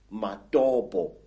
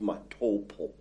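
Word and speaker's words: Matobo: place called the mountains of the round rocks madobo wrongly pronounced matopo in in zimbabwe these hills are really not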